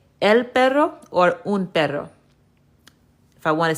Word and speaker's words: un perro: Yep, you had it right. You said un perro. So, un perro is how you say a dog. Now, let's take it a step further.